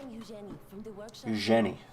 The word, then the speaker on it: Eugenie: Eugenie. Soft G.